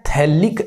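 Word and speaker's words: phthalic: COOH लगे हुए हो, तो गाइज इसको हम बोलते हैं थैलिक एसिड, इसको हम थैलिक एसिड बोलते हैं, थैलिक एसिड। देखना पीएच इसमें साइलेंट होता है, और आईयूपीएसी नाम लिखेंगे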